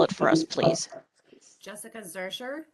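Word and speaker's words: Zuercher: record um could you state your name and spell it for us please Jessica Zer J SS I ca z u e r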